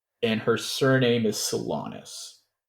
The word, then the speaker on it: Solanis: her name is theara and her surname is salonus how do I spell that yeah theara would be t h a l a r a and her last name would be salonus s o l a n i s all